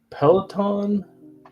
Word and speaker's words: Peloton: Then now look, I'm not really good at pronouncing things right now. So Peloton.